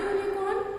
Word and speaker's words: unicorn: So, you think that we will write an unicorn, but no, we write a unicorn because it is again pronunciation of or sound of Y, U and then unicorn. So it is giving consonant sound, that is why we are writing a unicorn.